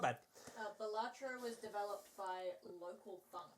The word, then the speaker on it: Balatro: And he said the way the developer pronounced the game is Balatro. Balatro. They say it's Balatro.